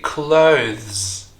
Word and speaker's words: clothes: consonant Z not s so the whole thing should be clothes is very mouthful and that's why a lot of people are replacing this word with close Asing close the door or you're